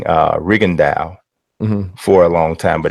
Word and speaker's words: Rigondeaux: fighter's name because I remember I was saying Rigondeaux for a long time, but it's not. So was everybody. It's not. It's Rigondeaux. I know, but everybody was saying Rigondeaux.